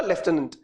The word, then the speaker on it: lieutenant: lieutenant, lieutenant, ठीक है, spelling याद रखने का तरीका और प्रोनाउंसिएशन होगा लेफ्टिनेंट। सो लेफ्टिनेंट गवर्नर जो थे,